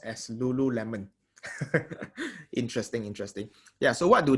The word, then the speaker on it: Lululemon: So it's pronounced as Lululemon.